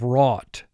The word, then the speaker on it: wrought: So we have OUGH as a team here, and it's not representing the long O sound. If it were, we would put a 4 under it.